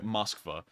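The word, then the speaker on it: Москва: you see it in russian here it's actually pronounced moskva um but i don't think they will um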